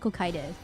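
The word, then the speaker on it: Cocytus: No, it's Kokitus. I looked up the English dictionary. It's called It's pronounced Kokitus.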